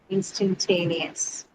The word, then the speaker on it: instantaneous: So I think the is moves the stress to the syllable T, instantaneous. Yes, ma'am. So Third. that means so on the third syllable, so it falls on instant and then T. That one carries the stress.